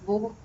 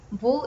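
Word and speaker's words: वह: Then for he or she informally addressed and proximity far, it is wo. Wo is written like this, vaha. Vaha, it's written in the script like that and pronounced as wo.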